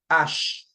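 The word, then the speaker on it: ache: Next, we've got ash. Ash. All right. So, ash for age. Okay. The way you pronounce it is the same as the as the ash in English. All right. Same thing.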